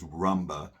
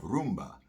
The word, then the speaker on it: rumba: says Rumba well actually there's no such thing as Rumba that's a very Americanized term and mispronunciation misspelling of Roomba Roomba mean the party